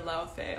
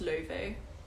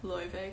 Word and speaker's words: Laufey: but not laffy or laufey although go ahead and pronounce it however you want but um in icelandic it's pronounced le vee so and in america most people say like louis vey because that's like the